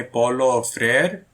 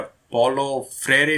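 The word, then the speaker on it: Paulo Freire: ठीक है, अब इसमें पढ़ते हैं बहुत ही जरूरी व्यक्ति का नाम, जिसका नाम है पॉलो फ्रेयर, या पॉलो फ्रेरे भी इसको कई लोग प्रोनाउंस करेंगे, तो जैसे भी आपको प्रोनाउंस करना है कर लेना, लेकिन मेन चीज है याद रखना।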